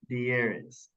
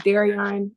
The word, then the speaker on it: Darion: let's start with um dearis did I pronounce that right you can correct me um my name is Darion um I go by